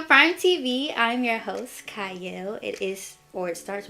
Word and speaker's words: Qiayel: welcome to Prime TV I'm your host CA it is or it starts with a CU but it is pronounced CA and today I have a special